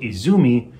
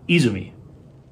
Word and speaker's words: Izumi: alarm also turns out i've been putting the emphasis on the wrong syllable in pronunciation it's not port izumi it's port izumi would the khan come